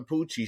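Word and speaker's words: Pucci: It's Poochie. It's Father Poochie.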